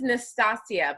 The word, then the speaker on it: Nastasja: My name is, though it sounds pretty, my name is Nastasia, but it's spelled Nastasja.